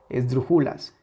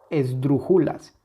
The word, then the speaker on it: esdrújulas: esdrújulas claramente está aquí si le quitamos esa intensidad tendríamos esdrujulas esdrujulas esdrújulas no es lo mismo esdrujulas que esdrújulas entonces aquí la última la